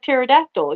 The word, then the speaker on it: pterodactyl: no but it's like pterodactyl you know the the p is silent yeah I wish mine